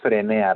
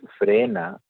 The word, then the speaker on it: frena: No es frenea rápido, sino es frena rápido.